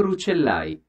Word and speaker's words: Rucellai: Actually, is this pronounced like this when it is only one C? Let's check the translator. Palazzo Rucellai. Okay, I'm pronouncing correctly.